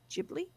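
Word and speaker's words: Ghibli: though okay then and jibli is spelled g h i b l i jibli it's going to be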